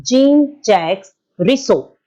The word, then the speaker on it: Jean-Jacques Rousseau: It is called as, or it is pronounced as Jean-Jacques Rousseau.